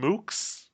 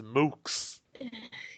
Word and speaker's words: mooks: this it's not a you can't British this one you have to pronounce it like the Americas nah look at these muks well I'm not American yeah but even in Britain they're not muks they're not books it's mukes anyway in response to